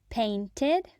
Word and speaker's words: painted: example in more detail paint paint paint is one syllable paint painted painted painted is two syllables paint Ted painted in these words the IDI adds an extra syllable ed I tasted some